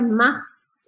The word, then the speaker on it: mars: A gente pronuncia mars, a gente fala esse S aqui no final, porque é uma palavra que não vem do francês, ela vem do latim.